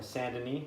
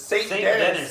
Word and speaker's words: Saint Denis: What, fucking Saint Denis? Yes! Yep. Saint Denis! Fucking Saint Denis. It's Saint Dennis, okay? goddammit. It's spelled out. Welcome Saint to Dennis. America, bitch. We pronounce our S's and we don't run from fights.